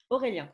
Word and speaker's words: Aurélien: Aurélien, Et d'accord.